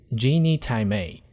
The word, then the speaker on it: 鸡你太美: May, just like Thai, it may sounds like May in Chinese, which means beautiful, elegant. So here you got a way to pronounce it and understand it. Genie Thai May.